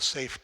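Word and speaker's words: Seif: So toward that, I have a project I'd like to share with you called the SAFE project. SAFE rhymes with safe.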